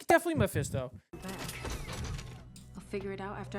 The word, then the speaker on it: Mephisto: It's definitely Meisto.